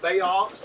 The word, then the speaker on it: baox: for georgia it's pronounced baox like if an ox lived in the chesapeake bay um so it's a